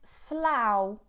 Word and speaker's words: Slough: plowed every summer then the last one is slow slow slow this is actually quite a large